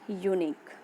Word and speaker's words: unique: See the example: a unique, a university, a European. As you can see, the words unique, university, European start with vowel letter but produces the sound of a consonant Y.